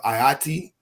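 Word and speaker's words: Ayiti: The original island of Ayati, how you say Haiti, but with the A.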